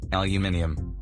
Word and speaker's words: aluminium: In Australian English, there is an extra Y in the word, and this would give it a unique pronunciation, aluminium.